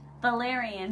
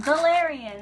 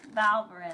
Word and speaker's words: Valerian: Valerian. Valerian. That's how you say it. My mother says Valverin. That's why I say Valverin.